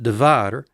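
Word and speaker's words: דָּבָר: It's got a kametz, da. There's the syllable division. A bait with no dagesh line, v, a kametz, a, and a resh, So it is da-var, da-var.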